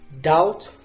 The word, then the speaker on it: doubt: let's scroll down again which word has a silent B now I'm going to choose one word is it labor or doubt rubber ropes so which one the question is clear it's doubt let's go to number nine